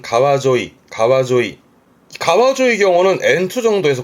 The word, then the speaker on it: 川: 뜻으로는 발음은 가와 가에서 보통은 그런 시내나 강을 의미하기도 하지요.